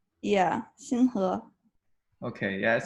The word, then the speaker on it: Xinhe: Uh, Yeah, there's also a tone thing. Yeah, you were telling us that also, like the second syllable, the inflection has to be a rising inflection because you could say it other Yeah, ways and it means something very different.